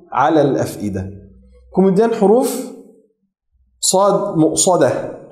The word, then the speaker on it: مؤصدة: Kemudian huruf sad mu'sadah, huruf sad tebal dan huruf dal tipis. Mu'sadah, innaha 'alayhim mu'sadah, mu'sadah.